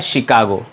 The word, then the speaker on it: Chicago: तो नॉर्मली इसको प्रोनाउंस किया जाता है शिकागो. ये एक फ्रेंच वर्ड है और फ्रेंच भाषा में CH से श बनता है, च नहीं, श. तो इसे प्रोनाउंस करते हैं शिकागो।